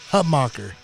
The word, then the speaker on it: Hutmacher: how do you say your last name hutbacher hub mocker see i didn't want to butcher it i